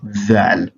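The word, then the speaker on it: ذ: So that one is what we have the like of it in Arabic language as Thal.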